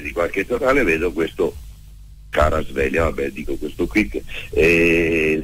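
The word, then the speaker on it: Kvaratskhelia: ma innamoratissimo calcisticamente parlando di Caraspeglia, si dice così, si pronuncia così, perché questo ci fidiamo.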